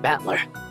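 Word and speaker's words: Battler: Japanese pronunciation so far the problem is my given name is made of of the characteristics for fight and person and it's pronounced batler put it all together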